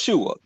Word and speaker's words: Shewa: Yeah, but he was trying to pull out the point that because of SHEWA, but it's pronounced Shua.